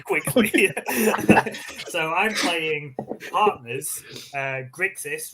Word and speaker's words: Grixis: Grixis rhymes with sexiest for a reason.